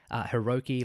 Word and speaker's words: Hiroki: High 69, again, I know that his name is technically Hiroki, like the 6 of the 9 is, that's how the numbers are pronounced in Japanese, but it's just, like, I've always read it as High 69.